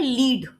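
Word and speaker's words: lead: एक होता है लीड एल इ ए डी और एक होता है लेड। एल इ ए डी। दोनों की स्पेलिंग सेम है लेकिन बोलना जो है डिफरेंट है।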